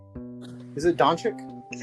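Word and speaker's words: Dončić: was a luka Don donic how do you pronounce his last name is it donic I it's donic that's what I thought yeah so uh he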